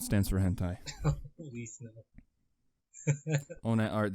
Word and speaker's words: ONATARTH: So it's called ONATART. The H is your spirit animal, dude. It stands for hentai. Please no. ONATART, the H is silent, but it stands for hentai.